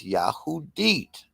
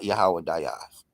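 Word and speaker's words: יהודית: The proper pronunciation is Yahoudit, not Yahawaz, with the emphasis on the second syllable.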